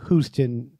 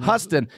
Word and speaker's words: Huston: an academy award film noir directed by john huston houston oh it's houston houston yeah it's jennifer houston's dad yes oh wow and grandfather of jack houston houston houston who's with you guys well there's